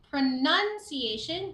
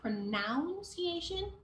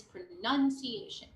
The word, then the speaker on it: pronunciation: should feel the vibration okay on your tongue that pronunciation it's not pronounciation okay even though the verb is pronounced the the noun is pronunciation okay Hobbies good okay not uh good or